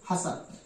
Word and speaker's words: hustle: तो देखें, जैसे HUSTLE, इसमें शब्द के अंत में TLE एक साथ है, इसलिए हम यहां पर इसका उच्चारण नहीं करेंगे और क्या पढ़ा जाएगा इसे? हसल।